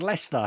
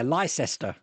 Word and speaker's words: Leicester: Same as Leicester, yeah, Leicester.